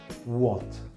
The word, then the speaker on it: what: Se pronuncia con una O, tirando una O. Cada vez que tengo WA o WHO en la escritura es what, what.